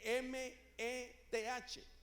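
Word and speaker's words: meth: busca en el griego es una palabra que se escribe m e th se pronuncia Met de este término Met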